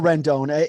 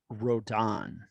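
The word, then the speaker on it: Rodón: down though buddy or rendona either way um oh can we get that cleared up Rondon or Rendon and then I'll say it right from now on Carla I think it's Carlos rodon rodon even okay so I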